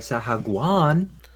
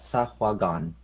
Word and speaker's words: Sahuagin: More like Sahaguan. I fucked up the pronunciation of that. Sahuagin.